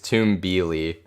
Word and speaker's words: Tumbili: not live so okay the pronunciation of it is tombili yeah i it's having